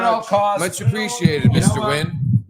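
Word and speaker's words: Nguyen: cost much appreciated Mr win I'm Mr win too if you can tell by my eyes I brought this because I heard but it's spelled nguan been sitting on I've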